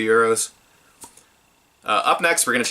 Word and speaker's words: gyro: I know the proper way to say that is euro, but it's confusing because Europe's currency is the euro.